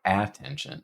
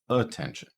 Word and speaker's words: attention: what about attention attention it's not attention it's attention so we're starting with awah here uh and we get t